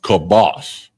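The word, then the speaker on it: כבש: And it's pronounced kibosh, and that's lamb.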